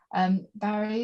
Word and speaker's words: Mhairi: Anyway, as Sue said, my name is Mhairi. It's confusing, my name is spelled with an M, but it's pronounced with a V.